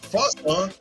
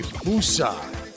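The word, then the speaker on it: fossa: Island Nation is home to the Ai, Fasa, and Sifaka. All animals that are unique to the island. What island is that? Is it Cyprus, Fiji, Indonesia, or Madagascar? You said it wrong. It's the Fusa.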